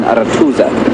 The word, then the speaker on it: Arathusa: This is called Arathusa, or if you say it with proper pronunciation, Arathusa.